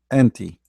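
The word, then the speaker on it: أنتِ: The one for the female has a kasra, anti. So anta, anti. All right? Anta, anti.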